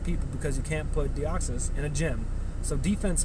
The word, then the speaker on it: Deoxys: Not even new EX raid system, just a new Pokemon that's coming for EX raids is Deoxys, or Deoxys, however you want to pronounce it. But I like Deoxys, right?